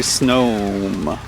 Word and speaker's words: Snom: I really want to pronounce that word as Snom, but it's supposed to be Snom. Because it's snow.